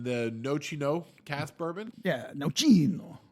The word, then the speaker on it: Nocino: Nocino. Say it like you're Italian. Nocino.